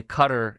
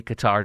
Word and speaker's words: Qatar: And by the way, Cutter, aka Qatar, depending on how you want to pronounce it, uh sponsors tons of things.